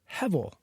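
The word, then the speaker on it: הבל: We usually pronounce it Abel, but it's the same Hebrew word, Hevel, meaning breath.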